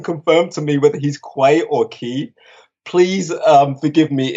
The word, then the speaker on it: Quay: toll site I mean that was that was the name I was given originally and it wasn't until I was being called on set the description or the pronunciation of that name turned to Quay and I didn't question